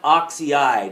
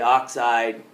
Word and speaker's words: oxide: one li2 oh yeah it's not oxy eyed it's they're usually one symbol or two when we take take a look at it two syllables is all they're going to be so we don't say oxy IDE we don't say soul fried you say oxide sulfide we don't say phosphor IDE we make them two syllable words so that's what this